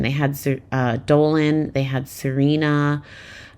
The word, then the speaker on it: Xirena: They had Dolan, they had Serena. Serena is spelled Xirena.